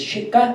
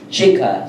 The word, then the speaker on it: Shikha: Is the H silent, or does it go with the pronunciation? Is Shika or Shikha? Shikha. So I have to say the H as well.